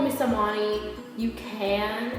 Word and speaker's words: Samani: So if you want to call me Samani, you can. It's pronounced Samani.